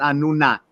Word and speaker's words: Anunnaki: Commonly is pronounced Anunnaki, but I believe its Sumerian pronunciation was Anunnaki.